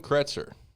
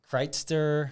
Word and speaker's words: Kretser: right so um kretzer chesapeake valley seat yes sir uh you pronounce my name my last name correct that's it's a big one huh how else do they pronounce it kreitzer chryster uh usually there's some